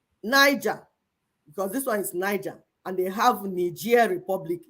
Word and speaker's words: Niger: because this one is Niger, and they have Niger Republic. The same spelling, no? One, he pronounced it in English. One, he pronounced it in French.